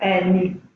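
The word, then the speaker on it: nie: Ni. Isso. E por que a pronúncia ficou ni?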